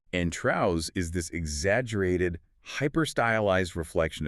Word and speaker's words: Trouz: And it's pronounced Traus, like a trouser. And Traus is this exaggerated hyper-stylized reflection of Trevor himself.